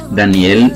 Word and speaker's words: Daniel: significado de su nombre danielle se pronuncia igual en el hebreo como en el español y su significado es